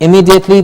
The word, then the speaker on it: immediately: have done today immediately not immediately but immediately long e immediately so the vowel